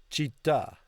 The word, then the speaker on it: città: Because it's going to be the emphasis on the last syllable. Città. Città. To say it as one T, it would be città. But you've got to make it two T's and pause in between, right?